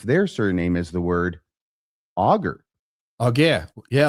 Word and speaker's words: Alger: surname as the word augur. Oh yeah. Yeah. Like uh not having So the L is silent and the G is a hard sound.